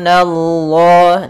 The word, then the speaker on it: Allah: Nah, hati-hati dalam pelafalan, biasanya lafal Allah itu tidak huruf sebelumnya, yaitu huruf na tipis, jangan dibaca dengan nallah, tapi nanya tipis. Yukhadi'una Allah, nallah, na tipis, baru Allah yang tebal, nallah.